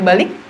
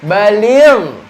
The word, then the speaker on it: baligh: Apakah itu artinya balik? Bukan itu yang dimaksud adik-adik ya. Yang balik di sini pakai ghain. Jadi bacanya baligh.